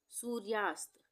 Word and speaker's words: सूर्यास्त: सूर्यास्त, सूर्यास्त, सूर्यास्त में र का उच्चारण आधा हो रहा है तो यहाँ पे हम रेफ की मात्रा लगाएंगे। र की दो मात्राएं होती